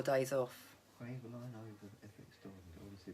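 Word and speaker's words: Kryvaline: Craveline over FX Diamond. I honestly prefer FX, so Craveline is much more expensive.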